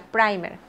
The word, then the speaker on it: primer: Este producto es un primer, se escribe primer y se pronuncia primer.